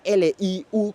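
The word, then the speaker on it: 六: viendo en pantalla y se pronuncia como Liu. Aunque se escribe L-I-U con un cuarto acento, es decir, un acento que va para abajo, se pronuncia Liu, una curiosidad del chino.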